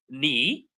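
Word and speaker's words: knee: So ni the k is silent.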